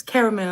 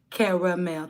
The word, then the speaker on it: Cara: It's caramel, I think, because she said it's C-A-R-A.